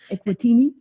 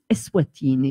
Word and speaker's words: Eswatini: Equatini? Eswatini.